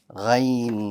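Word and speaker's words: غين: That's good, because if you can pronounce kha with ease, kha, hold the air, and the letter ghain should be pronounced. Gha. I hold the air. Kha. You want to kind of feel it and get a sense where it is, and then pronounce it. Ghain. So I'm using the kha to help me pronounce the ghain, just as I use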